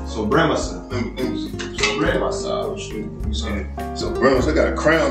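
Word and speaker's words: Sobremesa: I couldn't pronounce it, man. It's Sobremasa. Sobremasa.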